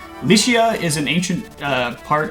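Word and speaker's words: Lycia: is pronounced lesion but in turkish the the word is pronounced uh likia so yeah malaysian league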